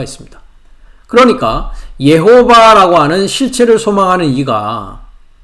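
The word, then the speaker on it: יְהוָה: 그래서 나의 한 날에서 다섯째 날까지는 예호바라고 하고 있는, 한글에서는 여호와라고 하죠. 우리가 이제 히브리어 발음을 우리가 생각해 보면 예호바라고 합니다.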